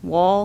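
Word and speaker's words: Wahle: morning is jeanette carlson whale which is w-a-h-l-e honor the pronunciation will be carlson wall carson wall yes ma'am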